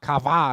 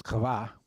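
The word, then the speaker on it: חוה: Eve sounds like kava, excuse me. And I can't look at a W without pronouncing the W, but it's kava. And you should do it more guttily. Kava.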